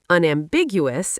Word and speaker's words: unambiguous: Unambiguous emphasizes the second syllable, unambiguous.